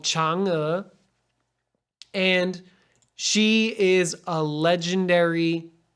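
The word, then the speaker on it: Chang'e: moon who's that well this person is called changa and she is a legendary character and when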